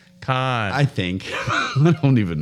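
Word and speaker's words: Cannes: C-A- Con. Cons. No, just con. It's French. They don't pronounce half their letters. So the S is silent. Right. Cons. There's no S. Cons.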